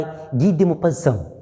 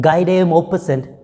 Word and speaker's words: Guy de Maupassant: short story, The Trip of HORLA, written by Guy de Maupassant. Right, he's a French writer, French short story writer, and when you read it by its spelling, you may read it Guy de Maupassant, but the real pronunciation is Guy de Maupassant.